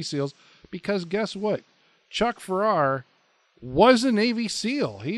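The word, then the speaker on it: Pfarrer: I think he pronounced his last name Farrar, P.F.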